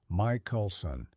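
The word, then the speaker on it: Michelson: In the year 1887, two American physicists, Albert Michaelelsson, pronounced Mike Coulson and Edward Mley, set out to detect the Earth's motion through this ocean.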